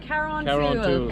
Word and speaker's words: Carrauntoohil: Carrauntoohil.